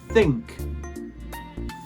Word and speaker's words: think: Each time the tongue must come between, at the very start of the letter, the tongue comes between and then disappears into your mouth immediately afterwards, brushing against your teeth.